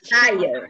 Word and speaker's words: child: A child. Yeah. Se você pronunciar como shield, aí vira escudo, okay?